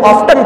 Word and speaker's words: often: میں اگر ہم دیکھیں ایک لفظ آفن، OFTEN اس کی اسپیلنگ ہے۔ اگر انگلستان کے انگریز ہیں تو وہ اسے آفن پڑھتے ہیں، امریکہ کے جو انگریز ہیں وہ اسے آفٹن پڑھتے ہیں، یعنی ٹی کو سائلنٹ کرنے کے بجائے اس کو ادا کرتے